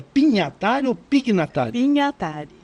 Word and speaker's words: Pignatari: Pinhatari. Pignatari. É Pinhatari, a correta. Mas, Todo mundo fala Pignatari, mas em italiano é Pinhatari mesmo, é Pinhatari.